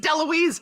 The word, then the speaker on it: DeLuise: mom i'm opening for dahmer and she's like that's great is it who is that why should i it's pronounced deluise honey is it tom